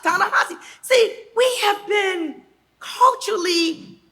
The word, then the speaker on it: Ta-Nehisi: Well, no, it's pronounced Ta-Nehisi.